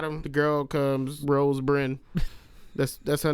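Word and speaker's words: Byrne: I think it's pronounced Burns, but I don't know. Rose Burns. I thought I said B R, right? B R Y N E. I thought it was B Y R N E.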